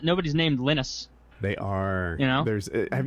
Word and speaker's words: Linux: a trillion times and it says my name is or this is Linux and I pronounced Linux Linux and uh and it's